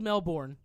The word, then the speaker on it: Melbourne: the em in it is it not Melbourne it's pronounced Melbourne okay it's spelled Melbourne okay it's pronounced Melbourne